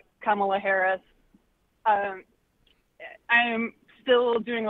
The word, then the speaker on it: Kamala: how to say it, Kamala Harris. Kamala with a la, right, Erica?